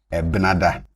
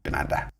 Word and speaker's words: Ebenada: And I'm putting the initial vowel in brackets because you can do away with them and it will still be the same thing. So, you can have it as Edwoada or just Dwoada. You can have it as Ebenada or just Benada.